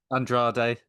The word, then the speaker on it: Andrade: I'm going to get your name wrong. Andra Andrade.